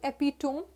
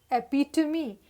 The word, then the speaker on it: epitome: pronunciation that is why it is not epitome this is epitome which means the perfect